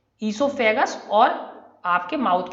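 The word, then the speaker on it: oesophagus: तो ये जो ईसोफेगस है, इसमें ये वर्ड जो है इसे पढ़ते हैं ईसोफेगस, वो इसमें नहीं पढ़ा जाता, वो साइलेंट है, इसे क्या पढ़ेंगे ईसोफेगस।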